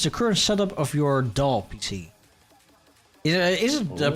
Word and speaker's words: DAW: What is the current setup of your DAW PC? Is it pronounced DAW or is it pronounced D-O-W? D-A-W? DAW is easier to say, so I say DAW, but I think both are fine.